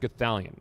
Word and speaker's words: Gothalion: it wasn't great uh my name is pronounced gallion you can just call